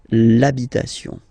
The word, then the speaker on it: l'habitation: Even if you've got this H, then the first sound you hear is A. Okay, so for the same reason you will have to take this A away, and then you get this l'habitation.